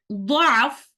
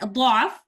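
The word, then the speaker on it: ضَعْف: And in this particular ayah, we have the option to say letter Dad with a Dhamma or with a Fatha. As you can see here in the ayah, the word Da'af is repeated 3 times in the ayah.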